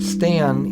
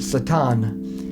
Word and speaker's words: Stan: he said you know your name stan is so hard for us to say they pronounce it satan so he just always